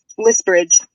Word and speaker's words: Lisbridge: oh what is it it's elizabeth or wait list bridge sorry how do you spell that l-i-s-b-r-i-d-g-e it came from a name generator